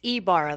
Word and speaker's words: Ybarra: here in the state of Idaho you know why berra berra and i hear all that if pronunciations what which one is the correct one it's Ibarra the why makes an e sound it's Basque